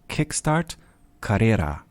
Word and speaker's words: KickSTART Karriere: He's the project lead of a program at Hochschule Anhalt called KickSTART Karriere. That's right. Exactly. Did I pronounce that right?